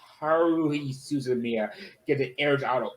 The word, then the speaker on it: Haruhi Suzumiya: I've heard similar things about Haruhi Tensumiya, Haru Suzumiya, or whatever it's called. How you pronounce the name? I can't speak Japanese. It's Haruhi Suzumiya.